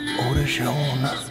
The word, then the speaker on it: Oda Jaune: Oda Jaune, is that how it's pronounced? Yes. Oda Jaune.